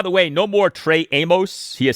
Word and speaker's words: Amos: Uh by the way, no more Trey Amos. He has said that his last name is pronounced Amos like famous Amos and so we say Trey Amos.